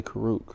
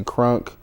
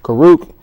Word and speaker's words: Kuruk: it um you know they say k sometimes they throw an in in there say crunk I don't know but U karuk is a native for